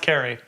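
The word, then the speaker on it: Cary: sure it's not oohs i think it's carrie it's cara it's a car it's not carl yeah carrie it's carrie it's pronounced carrie as far as i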